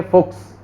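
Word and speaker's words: Fuchs: सी एच एस आ जाए तो आधा कै और से, ये वैसे तो अपन को पढ़ा नहीं जाए स, लेकिन ऐसे वर्ड के साथ में ये पढ़ा जाएगा।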